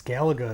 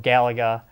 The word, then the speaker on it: Galaga: to as galaga because the champion gets to pick how you how you say it so gallagher sorry to fill day it will no longer be called the galaga and the circles that